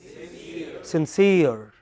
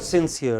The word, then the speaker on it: sincere: S-I-N-C-E-R-E. What is it? Sincere. Okay, it is not sincere, it is sincere.